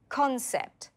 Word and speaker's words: concept: Can you hear the stress? Concept. The stress is on con.